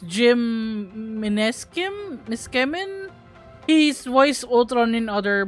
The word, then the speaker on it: Meskimen: It's Jim Miskemin. He's voiced Ultron in other Marvel games as well. Let me see if I pronounce that correctly. Ultron Jim. He's voiced by Jim Meskimen.